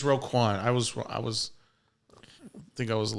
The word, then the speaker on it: Roquan: Roquan. No. The guy almost left. Is it not Rodan? Anyways, moving on. It's not Rodan.